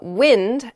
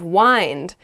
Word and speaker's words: wind: those were pretty good uh next is uh wind as in the air uh blowing blowing air and wind as in like to wrap something around something else wind you might say the wind is really strong